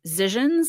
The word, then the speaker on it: Zizians: known as the Zizians. Andy, fix that. Or I've also heard it pronounced as Zizians, like visions, but with a Z.